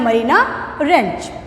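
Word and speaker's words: Mariana Trench: हम इसमें बुक में देख रहे हैं रेंज की स्पेलिंग हमारी ट्रेंच दी हुई है टी, बट हम जब बोलेंगे तो हमारा टी साइलेंट है, हमें बोलना है मरीना रेंज।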